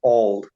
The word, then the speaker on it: Auld: beautiful accent so it's I would pronounce it all oh do you know this you know the new yes song Auld Lang Syne ah I never made